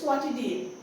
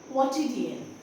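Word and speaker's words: quotidian: डी आई ए एन नाउ हाउ you going to pronounce this word it's क्वाट डीएन क्वाट डीएन okay I have written लस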